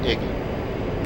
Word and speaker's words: EGI: The primary navigation system of the A-10C is the Embedded GPS, INS, or EGI, often pronounced IGI.